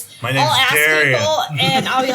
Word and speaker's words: Dariah: Daria.